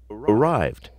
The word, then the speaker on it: arrived: Arrived. Arrived. Wanted. Decided. So arrived sounds like a D.